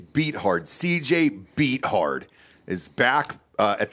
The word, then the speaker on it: Beathard: Bethard. Oh, Beathard. Sorry, man. You keep mispronouncing that. It's Beathard.